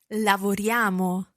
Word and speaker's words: lavoriamo: Lavoriamo. Now, you'll be used to seeing this written down, I-A-M-O at the end, but notice how it almost sounds like a Y-A-M-O.